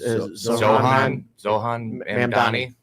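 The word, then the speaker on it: Zohran Mamdani: Yeah, it's Zohan Mamdani.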